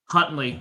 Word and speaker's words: Huntley: this injury uh the backup is it Tyler Huntley Hundley yeah how do you say his last name something like that Huntley yep yeah yeah he looked like he did